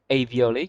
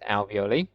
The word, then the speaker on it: alveoli: got the alveoli or i like to call them avioly because you know but they're pronounced alveoli they are the tiny